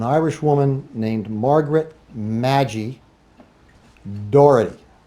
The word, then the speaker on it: Doherty: The last victim was an Irish woman named Margaret Maggie Doherty, apparently sometimes pronounced Darty.